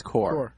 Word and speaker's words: Corps: It's Corps, by the way, like Marine Corps. No, it's Corps. Like a dead body. C-O-R-P-S-E? C-O-R-P-S. That's core. That's core. Pronounced core.